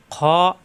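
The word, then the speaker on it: خ: খ, কণ্ঠনালীর শেষ অংশ থেকে উচ্চারণ, খ খ।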